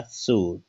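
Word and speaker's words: suit: देखिएगा सूट, यू आई टी है, तो इसमें ऊ का उच्चारण हुआ है, आई का उच्चारण नहीं हुआ। इसमें देखिएगा फ्रूट, तो आई का उच्चारण इसमें नहीं हुआ, फ्रूट।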